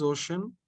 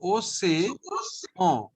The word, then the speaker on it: océan: Okay, so what is ocean? How to pronounce this? There is acute accent, accent aigu over E. So this E sounds like A.